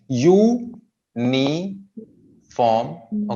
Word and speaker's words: uniform: यूनिफॉर्म. Okay. U को लंबा खींचेंगे. यूनिफॉर्म. 3 सिलेबल हैं. U अलग है, नी अलग है, फॉर्म अलग है.